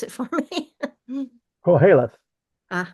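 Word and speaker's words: Qoheleth: a religion please tell me about that and pronounce it for me calth uh it's it's a Jewish word it's basically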